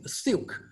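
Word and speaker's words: SILCC: I want to, if you can remember it, I call it Silk, pronounced like S-I-L-K, Silk, S-I-L-C-C.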